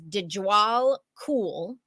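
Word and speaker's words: Djwhal Khul: with him is an ascended Master known as dejal cool okay it's I'm gonna spell it because it's it's uh you'll never get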